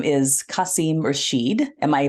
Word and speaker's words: Qasim Rashid: His name is Qasim Rashid. Am I pronouncing that correctly? Qasim Rashid, you nailed it.